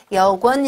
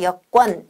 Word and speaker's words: 여권: 입니다 요건 이렇게 쓰고 발음은 아까 얘기했듯이 꼴 어 로 발음해야 되는 단어입니다 이렇게 역원 이라고 발음하지 않고 여권 이렇게 바로 만다 라는 걸 형태에